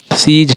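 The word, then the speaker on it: seize: हो रहा है, बिलीफ, सीजल, सीज, ठीक है, सीजल नहीं, सीज।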